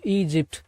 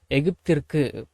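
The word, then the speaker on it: Egypt: ஒரு பெரிய விமானத்தில் டு ஈஜிப்ட் எகிப்திற்கு நம்ம தமிழ்ல எகிப்த் அப்படின்னு பேசுவோம் ஆனா இங்கிலீஷ்ல ஈஜிப்ட் ஈஜிப்ட்ஈஜிப்ட் அப்படின்னுதான் பேசணும் சரிங்களா ஓகே அடுத்தது இட்வாஸ்வெரிஹட் அண்ட்சதர்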